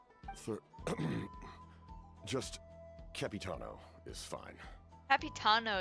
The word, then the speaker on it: Capitano: Capitano is how you say it. I guess it's similar to Cappuccino.